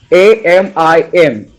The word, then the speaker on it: vitamin: Okay, so I'll write the word VITAMIN, and we pronounce it as VYTAMIN.